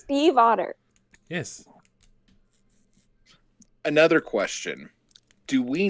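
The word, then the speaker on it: Stiefvater: But yeah, pronouncing it correctly, saying it fast, it sounds like Steve Otter, like the animal, but there's still the V you're supposed to pronounce very subtly.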